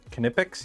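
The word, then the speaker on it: Knipex: to pronounce it and they confirmed it's kipe kipic you pronounced the K pronounced the K mhm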